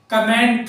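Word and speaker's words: comment: कमेंट को कमेंट नहीं कहते, कोमेंट कहते हैं।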